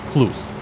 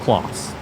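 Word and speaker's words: Claas: He was also saying Kloss is pronounced Kloos. Kind of doubted on that one. It's pronounced Kloss. So spelled C-L-A-A-S.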